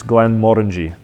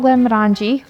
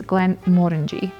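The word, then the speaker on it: Glenmorangie: wrong quite often it's Glenn Mori it's not Glenn mangi like most people say it's Glenn Mori yeah the emphasis is on the mo so a good reminder is Mori sounds like orangey Glenn Mori sits on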